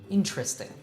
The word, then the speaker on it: interesting: to know that normally you'll hear native say it with just three syllables interesting and that's just a